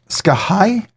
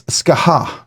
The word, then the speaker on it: Skaha: is the northern arms am I saying it correctly uh skah let's read it it's Skaha Skaha to this is the Skaha to the Skaha I don't know why I want to do skah but Skaha all right so that's